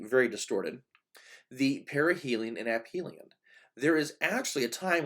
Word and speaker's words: aphelion: I've also heard it pronounced aphelion, but I like perihelion and aphelion.